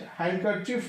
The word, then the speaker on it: handkerchief: Handkerchief, we have to find out the silent letter, that is a D silent.